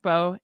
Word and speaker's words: Beau: It's called bow tie coat. Bow tie coat dress, but it's spelled Beau.